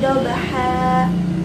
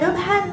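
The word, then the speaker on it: ضَبْحًا: Contohnya, wal adiyati dobha, fal muriyati qodha. Bukan lagi dibaca dobhan atau qodhan, tapi bacanya dipanjangkan.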